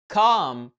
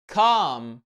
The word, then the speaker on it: calm: الكلمة دي بتنطق calm. خلي بالك ال L silent مش منطوقة. بص على نطق الكلمة برموز الأصوات مش هتلاقي فيها L.